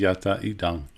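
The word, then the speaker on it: yadidaṃ: It always is yata idang, namely, or that is to say.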